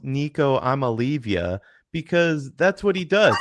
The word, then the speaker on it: Nico Iamaleava: First of all, his name is pronounced Nico Iamaleava because that's what he does.